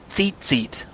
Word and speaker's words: tzitzit: They are called tzitzit. I've spelled it T-Z-I-T-Z-I-T. So tzit, but you can pronounce it as if you're looking at two seats and you just say them back to back rapidly, seat, or seat.